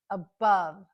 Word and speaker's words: above: shra sound as well the first one is above the stress is on the second syllable so that's where we hear the short u which is represented by an o in this case above above the first syllable is unstressed so that is our schwas sound in this case